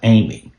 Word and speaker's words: AIME: Pronounced Amy.